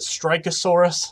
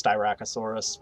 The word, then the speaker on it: Styracosaurus: it s then that pronounced it strikeosaurus and i'm like it's styracosaurus but um so like